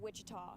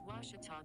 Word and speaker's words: Ouachita: university back in texas everybody pronounces it wichita but really it's ouachita washington washington how would you pronounce it it's washita baptist university get it